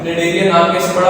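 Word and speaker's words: Cnidaria: इसको हम निडरिया भी बोलते हैं। क्या बोलते हैं? निडरिया। सी साइलेंट होता है।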